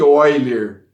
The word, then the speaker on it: Euler: matemático suíço leonhard euler 1707 a 1783 e pronuncia-se other ao certo é o elemento ao lado um